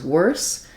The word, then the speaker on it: worse: For these two words, wars versus worse, just being aware that the difference is wars has the OR and the Z sound, and worse has the ER or and the S sound.